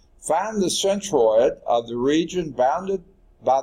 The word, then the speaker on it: centroid: for your thoroughly okay so this is centroid not synthroid so if I mispronounce